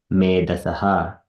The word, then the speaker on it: मेधसः: There is a dot under H. It is, we need to pronounce Jataha. And then here, Alpa Medasaha. So we need to put Ha sound comes there. Medasaha. It is called Visarga.